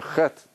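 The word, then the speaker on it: חטא: Which letter is silent?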